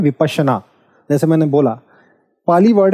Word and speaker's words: विपश्यना: हूँ उसका नाम है विपश्यना। हालांकि जब ये इंग्लिश में लिखा जाता है तो इसको विपासना कई लोग प्रोनाउंस करते हैं फोनेटिक्स हटा के, बट फोनेटिक्स को लेते हुए इट विल बी विपश्यना।